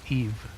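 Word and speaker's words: Aoife: long time uh also her name is pronounced Eve Eve or e that's interesting I would not have assumed that a o i f e was pronounced Eve anyways now may I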